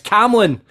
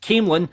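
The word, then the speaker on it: Camelon: It's Cam Lon, silent E, and only pronounced Came Lon as slang by locals.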